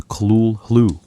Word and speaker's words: Cthulhu: Cthulhu does not obey English phenology. Lovecraft admitted as much. In a 1934 letter, he explained that the proper pronunciation was closer to kulu, a sound unachievable by the human vocal apparatus.